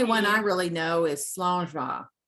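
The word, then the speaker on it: Slàinte mhath: Yeah, the only one I really know is Slangeva, right? Okay, what is that one? Slangeva. It means good health, and it's spelled nowhere near the way it's pronounced.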